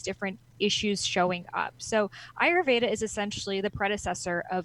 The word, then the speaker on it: Ayurveda: Ayurveda, pronounce it for me. Ayurveda.